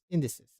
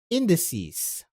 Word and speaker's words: indices: Adele was worried because the monitoring station's indices. Okay. What? That's index? Plural of index. Okay, how do you pronounce the plural? Pronunciation. Thank you. Indices.